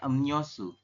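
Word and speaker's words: 음료수: aturan baca nomor 10 Anda membacanya bukan Em rosu tapi adalah Nio su seperti ini ya Jadi yang berubah yang mana Sem yang berubah adalah sialnya menjadi n ya Em seperti ini ya silakan perhatikan bedanya antara tulisan dengan bacaan ini ya ini bacaannya ya Run emniosu yang ini kan em rosu seperti itu ya Kalau tulisannya memang seperti ini Em rosu tapi anda membacanya emnyosu seperti itu untuk penjelasannya yang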